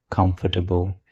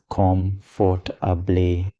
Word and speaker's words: comfortable: Or take another word, comfortable. Many people pronounce it as com-for-ta-ble, but native speakers usually say comfortable.